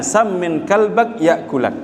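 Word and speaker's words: سمّن كلبك يأكلك: Sammin kalbak yaakulka. Cara bacanya samin kalbak yaulan.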